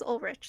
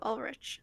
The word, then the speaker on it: Ulrich: I always say his name wrong. He says Ulrich, so Ulrich.